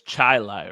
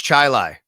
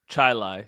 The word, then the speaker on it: Chili: I'm pretty sure because it's Gates Chilai. I know Gates Chilai High School. Gates Chilai. Um, it looks like Chile though. It does, but I believe you say Chilai in this instance.